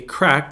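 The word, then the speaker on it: craic: And so, C-R-A-I-C, crack. What's the crack? That's not like crack cocaine crack.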